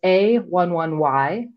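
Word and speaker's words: a11y: example of this is a 1 1 y it's pronounced a 11y and that's a pneumonium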